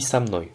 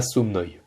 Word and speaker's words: со мной: C'est dur de dire snoi, du coup on dit samnoi. C'est beaucoup plus simple. Et l'accentuation, enfin, on considère qu'en fait c'est comme si ça se prononce comme si c'était un seul mot. Donc en fait, le o de ça, de so, pardon, se prononce comme un a, samnoi, et pas somnoi.